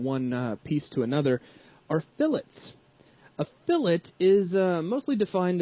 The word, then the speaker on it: fillet: It's pronounced fillet, it's not fillet, so please don't walk into